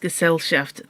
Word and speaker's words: Gesellschaft: If that's what's worrying you, Gesellschaft is pronounced Gesellschaft.